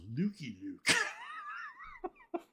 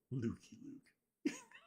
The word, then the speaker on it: Lucky Luke: When did you first get into Lucky Luke? Now, I was recently corrected by my good friend Jean-Francois Cavalier that it's pronounced Lukey Luke. And I just laugh at him whenever he corrects me. Lukey Luke.